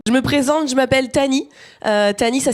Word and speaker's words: Tahnee: Je me présente, je m'appelle Tani. Tani, ça s'écrit T-A-H-N-E-E.